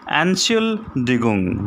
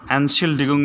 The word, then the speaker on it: Entschuldigung: So listen carefully how to pronounce this one in the next conversation. Entschuldigung, which means excuse me. Entschuldigung means excuse me.